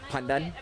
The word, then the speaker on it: pandan: Pandan. Pandan. Pandan. How did you say it? Pandan. It's so bad. Yeah, we pronounce it as pandan.